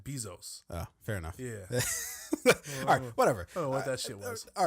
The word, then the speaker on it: Bezos: I think you just you're adding an extra e or there's just an e there no it's be e not be these O's Bezos Basil's I say Basil's no you said B Zoe's fair enough yeah all